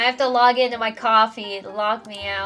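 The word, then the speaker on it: Ko-fi: thought it was pronounced Coffee Co or Kofi I it it depends on it is the correct pronunciation is coffee cuz that's the bit right you're buying someone a coffee I learned it as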